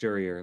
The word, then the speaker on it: Jurier: I forgot that his name is pronounced Jurier, like the court person.